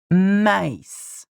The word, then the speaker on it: maïs: And just by adding the tréma on top of the I, or E in French, we have separated the sound of A and E, making it maïs.